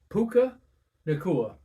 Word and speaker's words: Puka Nacua: Puka Nacua.